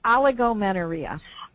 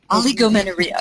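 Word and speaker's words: oligomenorrhea: was the long cycles and maybe you can pronounce that name for me oh that's aligo menaria aligo menaria okay yes and from my understanding that's when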